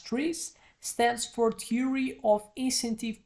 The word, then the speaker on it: TRIZ: So the TRIZ, pronounced as TRIZ, stands for Theory of Incentive Problems or of Inventive Problem Solving.